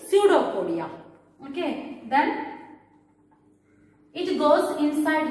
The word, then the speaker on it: pseudopodia: it is we call pseudopodia p is silent in pseudophoria pseudopodia pseudopodia means another name